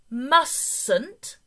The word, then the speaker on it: mustn't: be careful with the spelling of mustn't the pronunciation mustn't but with the spelling don't forget T must